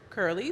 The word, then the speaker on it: Kurlee: good and then curly it's just the pronunciation of the word curly so it's K you are l ee instead of you know spelling it it's curly so I just